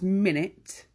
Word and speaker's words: minute: teeny-weeny this right now this is the same spelling as minute but it's pronounced minut so if something is